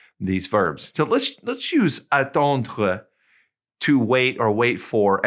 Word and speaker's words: attendre: Okay, notice it ends with that RE and it's pronounced kind of glottally, attendre. It's kind of back in the back of your mouth, okay?